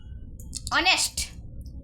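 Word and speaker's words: honest: लेकिन एच उसमें साइलेंट है। ओ से प्रोनाउंस होता है।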